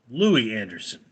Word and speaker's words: Louie Anderson: Louis it's Louie apparently let's I'm bad with pronunciation Lou Anderson yeah Louie Anderson okay now Louie Anderson is dead he died